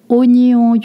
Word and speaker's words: oignon: And then oignon, you don't pronounce that wa, it's a o, oignon, and the gn makes the same sound that the nye in onion.